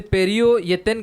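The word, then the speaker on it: פִּרְיוֹ יִתֵּן: का पेरियो यथन सलवांगे इसीलिए उसको को उच्चारण करते समय उसे पेरियो यतन कहना है।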